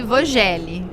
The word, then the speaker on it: Vögele: curiosidade do nosso público Por que que que muda tanto Vogel para pronuncia alemã isso que em alemão tem algumas palavras que tem pronúncias de diferente do português brasileiro né então o v em alemão ele tem uma pronúncia de F Uhum E a trema